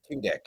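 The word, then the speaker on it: Tudyk: His last name is pronounced Tunick. Tudic.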